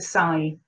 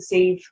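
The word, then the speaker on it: Sidhe: So this is the riders of the, and it's spelled S-I-D-H-E, but the Sai, okay, the Sieve.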